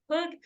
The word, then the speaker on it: Hook: I did mispronounce his last name in the beginning. Do not repeat what I said, guys. It is Hook.